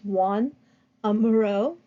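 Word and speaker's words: Joan Miró: organic forms a one it looks like Joan but it's pronounced Juan amuro and the mobiles of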